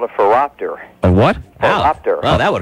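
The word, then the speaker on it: phoropter: in the eye doctor's office is called a furopter what happened well that would hurt a raptor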